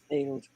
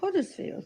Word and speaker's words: Huddersfield: Huddersfield. Can I try again? Don't say Huddersfield or Huddersfield. It's Huddersfield. Huddersfield.